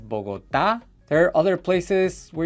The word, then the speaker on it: Bogotá: She says Bogota instead of Bogotá.